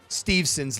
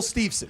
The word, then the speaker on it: Steveson: MH for mispronouncing Gable Stevenson's last name I thought it was Stevenson it's Gable stevon it's St so I